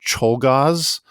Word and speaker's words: Czolgosz: I think it's Leon Czolgosz, spelled Czolgosz.